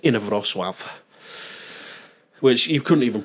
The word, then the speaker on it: Inowrocław: But England's from a very small place called Inowrocław, which you couldn't even pronounce, I'm guessing. Say it again. Inowrocław.